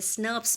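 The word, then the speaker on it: snRNPs: 5 प्रकार के एसएनआरएनपीज, जिनको हम प्रोनाउंसिएशन में स्नर्प्स भी बोलते हैं, इसमें इन्वॉल्व होते हैं U1, U2, U4, U5 और U6।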